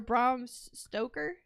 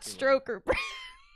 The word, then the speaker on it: Bram Stoker: like Braun or Bram Stoker. Bram Stoker. Bram Stoker. Bram Stoker's Dracula. Not Stroker. Bramstoker. That's what I said. The R is in the first name.